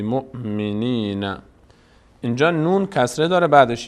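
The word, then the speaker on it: مؤمنين: هم ب هم ب هم ب مؤ هم حمزه ساکنه اینجا حمزه خونده میشه واو هیچ نقش‌ای نداره واو گفتیم یکی از حالت‌هایی که واو خوانده میشد وقتی بود که روش حمزه قرار بگیره اون حمزه خونده میشه باب اینجا خونده نمیشه بی مؤمن مؤمن مؤمن نین بی نین بی نین بی مؤمنین اینجا نون کسره داره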